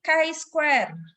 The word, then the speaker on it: chi-square: variasi sampel nah ini x ini bukan X bacanya tapi kari square square Hai jadi Palembang